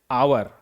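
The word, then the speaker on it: hour: जैसे एच ओ यू आर क्या पढ़ेंगे इसे? आवर। देखिए एच क्या है यहां पर? साइलेंट है।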